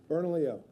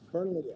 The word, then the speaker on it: Bernalillo: Bernalillo. Bern Bernalillo. Bernalillo. OK.